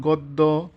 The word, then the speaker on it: গদ্য: নম্বরে যে নিয়মটা আছে আদ্য অ এর পরে যদি খিয় থাকে তবে অ এর উচ্চারণ ও এর মত হবে যেমন বক্ষ হ্যাঁ তাহলে